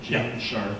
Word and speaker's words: Gene Sharp: Gene Sharp.